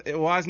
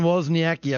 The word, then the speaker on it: Wozniacki: Wozniacki? Caroline Wozniacki, I believe is how you pronounce it.